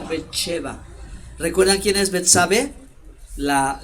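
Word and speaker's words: בת־שבע: En hebreo se pronuncia Betsheba.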